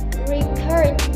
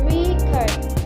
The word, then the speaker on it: record: As a verb, she wants to record my speech. The stress placed in the card syllable. While as a noun, she wants to buy you a record. The stress placed in the rec syllable.